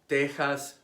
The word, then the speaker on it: Tejas: those of Aztec origin an X between two vowels is pronounced like the Spanish J Mexico Mexicano Tejas Oaxaca why the traditional Spanish